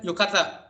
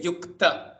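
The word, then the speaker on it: युक्त: say here itself yukta, you pronounce k only half. You say k, you don't say yukata, you don't say yukata, you say yukta, kta.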